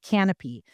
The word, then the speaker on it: Kanopy: one of them is called Canopy, and it's spelled Kanopy.